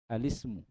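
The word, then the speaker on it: الاسم: utusan alka'bah Ka'bah alisim ini bacanya yang di kasro itu lamnya ya alismu alismu kan Hamzah wasr tak terbaca Kalau yang di yang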